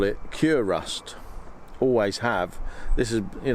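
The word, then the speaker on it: Kurust: got any cure rust he said oh crust but it's spelt k-u-r-u-s-t and it cures rust so i think the manufacturers are pretty confident that the manufacturers would want me to pronounce it as cure rust so what you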